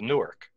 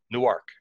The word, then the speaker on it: Newark: are familiar with it, which is Newark. Newark. Right? Uh-huh. There's a city spelled the same exact way about equal distance south of me in Delaware, but they say Newark.